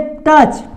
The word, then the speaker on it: touch: तो यहाँ पे देखिए, अब देखिए टच, टच को कैसे, यहाँ पे देखिए टच में भी आ हाइड हो रहा है, आ का उच्चारण हाइड